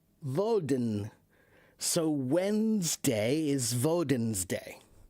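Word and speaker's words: Woden: But a long time ago, the way that they spelled it and pronounced it was Valden, and it was D. Uh W O D E N Voden.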